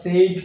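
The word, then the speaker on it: sword: restaurant কি হবে রেস্টন্ট করি আমরা পাচ্ছি আইডি উচ্চারণ সেড করে থাকি কিন্তু উচ্চারণ হচ্ছে সড ন উচার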